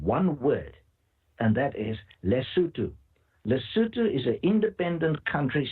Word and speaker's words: Lesotho: So you go to Google Maps and you put in the word Lesotho, Lesotho, if you wish, pronounce Lesotho, Lesotho. Just put that into Google